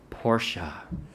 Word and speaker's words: Portia: he wants to marry Portia yeah just like the fancy car you know a woman named Portia has got to be good you know so but it's spelled differently P ort I a Porsche so but Fanny wants